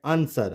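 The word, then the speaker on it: answer: में W silent होगा जैसे हम बचपन से पढ़ते आए लिखते आए आंसर हमने कभी ध्यान ही नहीं दिया होगा कि डब्लू इसमें साइलेंट है हम तो बोलते हैं सिंपल आंसर क्या आपने कभी इसको अन स्वर पढ़ा नो आप हमेशा बोलते आए होंगे आंसर आंसर इसको हमने ट नहीं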